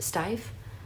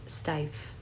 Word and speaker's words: Steiff: This is, I think the brand is pronounced Steiff, but it's a very like vintage brand.